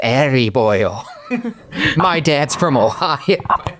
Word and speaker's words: Erie: It's pronounced Erie, boyle.